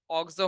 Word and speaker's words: অক্সো: চেয়ে প্রায়োরিটি বেশি পাচ্ছে, তখন ওইটার উচ্চারণটা হচ্ছে অক্সো হবে। কি হবে, অক্সো হবে। কি হবে, অক্সো হবে। ঠিক আছে, তাহলে হচ্ছে আমরা এভাবে অক্সো বলবো।